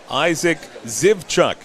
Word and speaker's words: Isaac Zivchuk: And Isaac Zivchuk is how you pronounce his name.